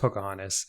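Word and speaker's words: Poukahangatus: a t u s but it's pronounced Pocahontas and I looks like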